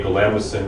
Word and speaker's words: Galamison: Built in a galamison, that is how you pronounce. That's correct.